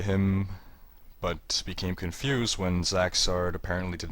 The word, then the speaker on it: Zaxzarrd: And after an entire Abbott and Costello routine of mistaken identities, it turns out that this is Zaxzarrd, spelled differently but pronounced the same, who is the brother of Zaxzarrd the deceased.